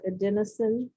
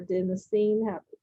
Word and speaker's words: adenosine: atp that stands for adenosine or adenosine pronounce either way tri phosphate and remember